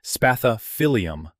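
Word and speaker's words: Spathiphyllum: Peace liies, spathophilm for the record, pronounced spailium, droop visibly and reliably when they need water.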